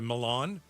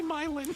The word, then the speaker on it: Milan: Milan. No. No good. No, that's not how they say it. Milin. They say myin.